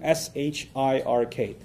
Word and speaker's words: shirk: I'll spell that out for you too, S-H-I-R-K. So nothing worse for a Muslim, from his faith perspective, nothing worse than shirk. S-H-I-R-K. Sounds like Shrek, so that's easy to remember, right?